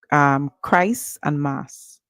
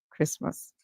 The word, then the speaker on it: Christmas: heard or seen it, you may say Christ and Mass. That would be incorrect. All right? Because the T is silent. So Chris and Mass, Christmas.